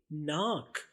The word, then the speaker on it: neck: तो NOSE, knows यानी नाक। अगला लफ्ज देखते हैं। अगला लफ्ज है नेक। नेक का मतलब है गर्दन।